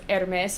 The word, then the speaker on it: Hermes: However, the, fashion brand that she's named after is pronounced Hermes either way.